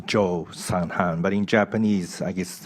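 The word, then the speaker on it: Kyaw San Han: I was told that in English uh it's pronounced Jo sanan but in Japanese I guess uh you write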